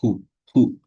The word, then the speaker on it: who: a palavra hu ó a pronúncia pessoal ru ru como se fosse um som de R de rato né eu falo assim Who who can who can